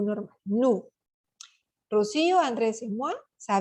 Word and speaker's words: nous: Combinación de vocales o U, suena como una U, como nuestra U, no como la U francesa que es una I,